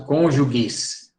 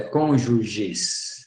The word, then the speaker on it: cônjuges: né os cônjuges Tá eu já vi gente pronunciam conjugues e é cônjuges é ruim de falar